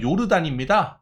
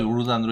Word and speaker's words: 요르단: 근데 요르단인데 이거를 조던이라고 읽고, 그러니까 J가 이렇게 Y처럼 읽혀지는 경우가 꽤 있어요. 그래서 그런 것만 좀 신경을 써주시고요. 요르단으로 읽어도 되고 조던으로 읽어도 됩니다.